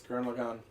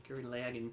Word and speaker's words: Gurren Lagann: The difference is he's correct. It's Gurren Lagann. Gurren Lagann.